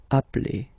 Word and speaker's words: appelle: So when you get this E vowel and then you get a double consonant, and well, they are the same, then it does change the pronunciation of E. You tend to pronounce it like really open.